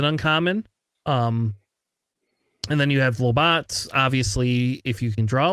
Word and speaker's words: Lobot: Lobot. The name of the guy. Lobot. All right. Just check. Is that not how it's pronounced? No, you you're right. pronounced like the O like a lot.